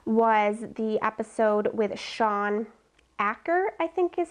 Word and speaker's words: Achor: in this podcast was the episode with Sean Acker, I think is how you pronounce it, or it's Acher. It's Achor.